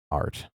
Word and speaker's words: ARTE: collection of games uh I'm assuming it's pronounced art a r t it's it's French I think it's pronounced art celebrates its 10